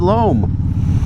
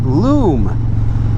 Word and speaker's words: loam: uh you know anyway you've all heard the accent but uh but they pronounce it loom and I'm looking at the word and I've always said lom but I got some